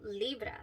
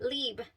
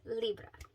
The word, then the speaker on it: Libre: go check it out if you'd like the pronunciations are Stellar so this is YSL Libra that is how she was saying it so